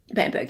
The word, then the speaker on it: Bamberg: Bamberg, yeah.